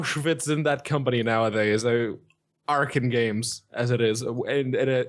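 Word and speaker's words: Arcen Games: it's like meow fits in that company nowadays Aran games as it is and it is it is actually pronounced Aran games I learned that a couple of days back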